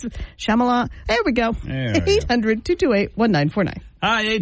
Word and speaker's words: Shyamalan: Because I don't really know how to pronounce it. Shyamalan.